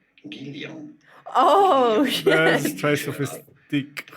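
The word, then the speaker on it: Guylian: In French, it is said as Guillon.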